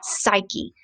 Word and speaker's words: Psyche: with a p is psyche the p is silent and then the other